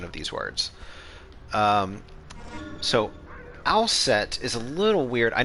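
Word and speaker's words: Aset: pronounced that way uh it was probably something like usa um in pharonic history and then uh from known sound changes it becomes uh asa what is someone spamming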